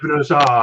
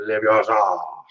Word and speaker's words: Leviosa: Leviosa, not Leviosa. Leviosa. It's Leviosa.